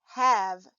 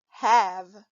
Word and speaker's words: have: sound in this word the e in the word have is silent this is the word have when reading have remember